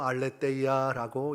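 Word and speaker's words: ἀλήθεια: 누리게 되리라고 선언하고 계시는 것입니다.이 진리라는 단어 헬라어로 알레데이야라고 읽습니다.이 단어는 요한복음 14장 6절에서도 사용이 되어지고 있습니다. 예수께서 이르시되 내가 곧 길이요 진리요 생명이니 나로 말미암지 않고는 아버지께로 올 자가 없느니라. 여기에서도 진리 알리데이아를 사용하고 있고 예수님께서는 자신이 곧 진리 그 자체가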